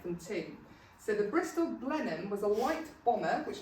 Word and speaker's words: Blenheim: Blenheim.